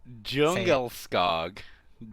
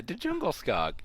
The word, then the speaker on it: Djungelskog: It's like it's a Djungelskog. Oh, yeah. No, that's not how you say it. Yeah, Djungelskog. That's how they pronounce it in the world.